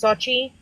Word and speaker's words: Xochi: So it was actually So Chicago because of the way that you pronounce my name. It's Xochi.